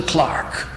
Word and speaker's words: clerk: all we want is a clark new england a pronunciation of clerk to carry out the